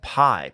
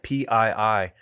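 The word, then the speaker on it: Pii: believe her name is chef pie p-i-i pronounced p chef p should have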